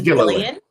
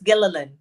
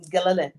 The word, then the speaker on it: Gillilan: A lot of people say Gillian. You do pronounce that. A lot of people say Gillian. Gillilan. It's Gillilan. Gillilan. You pronounce the L. Okay. Gillilan.